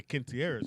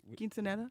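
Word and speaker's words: quinceañera: but if I say quintieres you know is it yeah see I had it right he said it right that's when you're coming of age say it the right way though with the quinceanera yeah there you go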